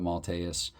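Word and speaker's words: Maltais: Steve malas Steve malus I think actually now I'm even remembering how it was pronounced it was a three of course different announcers pronounce names differently but malus uh so this is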